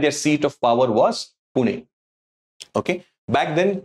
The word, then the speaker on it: Pune: seat of power was Pune okay back then the britishers they could not pronounce Pune or Pune and therefore the anglicized that to Puna okay an interesting you